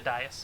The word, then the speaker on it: dais: I was going to say, is that supposed to be the dais? No. The dais. On the dais. It's like a ritual pedestal type deal. Am I dumb? It is dais.